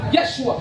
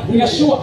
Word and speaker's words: Yeshua: Pero what ang imong pagpronounce sa Hebrew sayo, ayaw mo tawag sa una, Yeshua. Ako kayong gibadlong sa plaza. Yeshua.